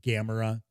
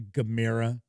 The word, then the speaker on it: Gamera: in the u.s it's a lot of people pronounce it gamera but it's actually gamera the turtle the new now i didn't i